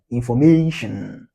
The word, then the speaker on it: information: For example, information. Where do we have the stress? May. That's why it's pronounced longer. Okay. It usually has a what? Higher pitch. Pronounced at a what? Higher pitch. That's why you have information.